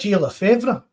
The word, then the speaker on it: Gilles Lefebvre: You've got that Gilles Lefebvre. That's how you pronounce it.